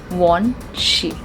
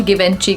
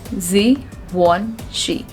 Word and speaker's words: Givenchy: Now this is again a French brand, and it deals into luxury perfumes, and the correct pronunciation of this word is Givenchy. Givenchy. It's not at all Givenchy, guys. It's Givenchy.